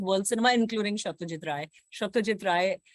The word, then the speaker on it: Satyajit Ray: Satyajit Ray, Bengali pronunciation hai unka. So that's when I first got to know that there was this great filmmaker.